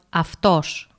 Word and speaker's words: αυτός: For example, look at the word αυτός, where Ypsilon is pronounced as φ.